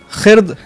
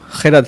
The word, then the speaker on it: خرد: بھی ذکر کیا تھا، خرد ایک بچہ بار بار کہہ رہا تھا، جبکہ صحیح اس کا تلفظ ہے وہ خرد ہے۔ اور پیغمبر، غین کا